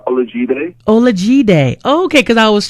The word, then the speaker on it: Olajide: Now, Kasai, I have to ask you, how do you pronounce your birth name? Birth name, it's Olajide.